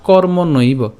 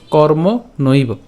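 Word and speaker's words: কর্মণৈব: এর উচ্চারণটা কেমন হচ্ছে কর্মনৈব ঠিক আছে কর্ম নৈব এরপর হি সংসিদ্ধিম একটু খেয়াল করি আমরা এখানে কর্ম নৈব কেন উচ্চারণ করলাম কারণ এখানে ঐকার আছে আর ঐকার থাকার কারণে আমরা নইব উচ্চারণ করলাম তো কর্ম নৈব হিসং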